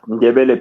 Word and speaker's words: Ndebele: rights for the I'm trying to say this, Ndebele. How do you say that? Ndebele people? Yes, Ndebele people.